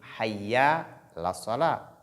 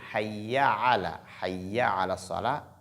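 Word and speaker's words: حي على الصلاة: Il faut prononcer correctement cette expression et ne pas dire Hayya la salah.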